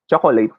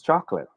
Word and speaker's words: chocolate: i can't hear you we filipinos say this as chocolate right chocolate i want to buy some chocolate tastes good but actually it should be pronounced as chocolate there should only be two syllables to this word so chocolate say it